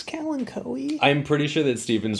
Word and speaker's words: Kalanchoe: I say kalanchoe. Kalanchoe. Yeah, this is like he's politely asking me, like, you know, I'm the authority or something. But yeah, I think it's kalanchoe.